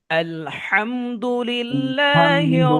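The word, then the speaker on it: الحمد لله: মুস্তাকিমলানা আনমতা আলাইহিমল আলাইহ আলাইহি আলাইহি ওয়ালা সূরা ফাতে আরেকবার পড়ি আলহামের উচ্চারণ খেয়াল করেন আলহামদুলিল্লাহি রব্বিল আলামিন আলহামদুলিল্লাহি রব্বিল আলামিন আর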